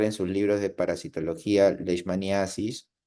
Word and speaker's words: leishmaniasis: Ustedes pueden llamarlo también leishmaniosis. Ambas formas de pronunciar o de escribir son correctas, ¿de acuerdo? Entonces, ustedes van a encontrar en sus libros de parasitología leishmaniasis o leishmaniosis.